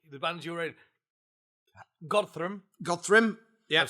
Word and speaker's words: Godthrymm: go currently currently the bands you in godr godri yeah I've said it right yep been doing